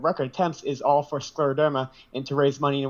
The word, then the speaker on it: scleroderma: Yes, scleroderma.